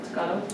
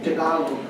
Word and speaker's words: Tagalog: then other languages in Monterey County such as Tagalog. Did I say that correctly? Tagalog. Tagalog. Is it the G is silent? No, we're Tagalog. No, it's Tagalog. Okay. So, Tagalog. Okay, it's all Tagalog.